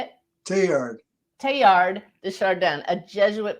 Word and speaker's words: Teilhard: And so sometime, I think it was in 1969, or maybe I came across concepts of Teilhard de Chardin.